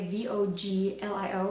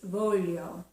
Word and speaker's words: voglio: not voglio uh it's volume like the word million in English it's very very similar so it's the e